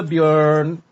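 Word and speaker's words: Björn: You say the letter O, but pronounce you mouth the letter E. Bjorn. Oh, okay. Yeah. So you say O, but you smile.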